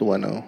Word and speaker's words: Ueno: people to pronounce it Bueno but without the be yeah yeah um so what does weno do we like a